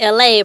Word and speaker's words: ELAY: It's me, LA, pronounced like LA, like the city I'm not from there, but I'm breezy.